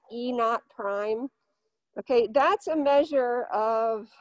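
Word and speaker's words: E°′: uh but basically this e it's called it's pronounced e naught prime okay that's a measure of uh how badly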